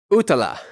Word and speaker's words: utala: Next, we have utala, U-T-A-L-A. Utala is drawn with a pair of crossed swords. You can see the sort of handle part at the bottom of either one. And utala has to do with competition or battle.